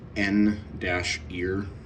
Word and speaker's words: N-Ear: This is the company is N-Ear, so, and they pronounce it Near.